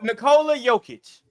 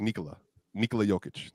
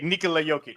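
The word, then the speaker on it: Nikola Jokić: But you call Nikola Jokic.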